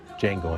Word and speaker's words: Django: Django Unchained. What's your name? Django. D-J-A-N-G-O. The D is silent.